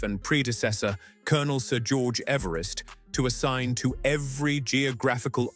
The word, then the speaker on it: Everest: George Everest pronounced his own surname as "EVE-rest." Rhyming with "cleave" or "sleeve."